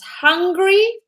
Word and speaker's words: hungry: So put your hand, your breath needs to come out. It needs to be a bit warm. I know it sounds weird, but practice it with us.